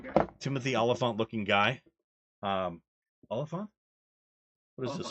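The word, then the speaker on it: Olyphant: Oliphant?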